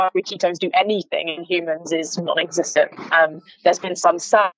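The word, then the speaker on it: HVMN: get then into your in the companies called human even though it's it's spelt hvm in h HP h PM n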